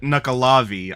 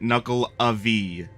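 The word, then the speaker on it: Nuckelavee: knuckle Avi no Felicity I wouldn't say you pronounce it nuckolavi I think you pronounce it knuckle Avi like knuckles yeah yeah vast kind of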